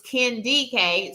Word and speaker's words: KDK: me at first glance, a lot of people think it's Kennedy K, and it is not. Um, so it's Ken DK.